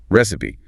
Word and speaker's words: recipe: Instructions for cooking. Recipe. R E S I P. So receipt then recipe. That silent P and receipt always gets people.